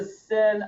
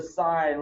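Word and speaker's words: sine: the angle this is not the sin of the angle the angle did nothing wrong so you don't say it's the sin of the angle it's it's the sign when we go down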